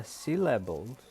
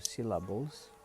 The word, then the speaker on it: syllable: Kata syllable, jadi bacanya syllable bukan syllable, bukan syllable, tapi syllable.